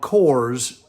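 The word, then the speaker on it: CORES: their website and look for the section called Kors. It's spelled C O R E S, but it stands for commission registration system.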